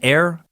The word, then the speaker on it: er: younga for a boy the pronoun used air pronounced air translates to he thus for kind the